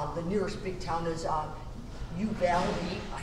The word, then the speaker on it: Uvalde: Okay, so we're at the Thumbtack Ranch in outside of, well, it's actually near Batesville, Texas, but the nearest big town is Uvalde.